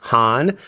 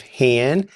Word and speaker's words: Hann: Hann or Hahn doesn't matter.